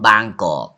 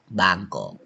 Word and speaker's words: บางกอก: Bangkok you know Bangkok come from บางกอก บางกอก but foreigner cannot pronounce like that Pron Bangkok but name